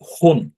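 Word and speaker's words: ほん: তো দেখেন ওইটা সিঙ্গেল যখন থাকে তখন বলি, কিন্তু যেটার সাথে যদি আরেকটা অক্ষর থাকে তাহলে কিন্তু এটার উচ্চারণটা নয়ের মতো হয়। তাহলে এটা হচ্ছে হো, তারপর হচ্ছে তো এটা হচ্ছে হোন।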